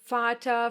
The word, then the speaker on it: Vater: Some other examples are Vater, verkaufen, viel, vielleicht. But sometimes, just sometimes, it will be pronounced like the German W.